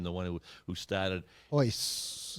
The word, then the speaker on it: Royce: Hoist. I think the R's are pronounced as like an H.